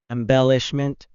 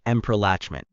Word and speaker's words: embellishment: It's embellishment with an M sound at the beginning, not Let's try that one more time.